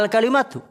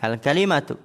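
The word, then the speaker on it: الْكَلِمَة: Perkataan penulis wal kalimatu hiya bi fathil kaf, dengan memfathahkan kaf al-ka, wa kasril lami, dan mengkasrokan lam al-kali, ya, al-kalimatu.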